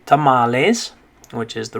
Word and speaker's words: tamales: about that one is if it actually was an english word we probably would pronounce it different right we'd probably say like to males or something uh because you know for example we have the word females in spanish or sorry in english so look at this word when we say that is females we don't say females right but since this one came from spanish we just kind of adopted that pronunciation tamales okay all right this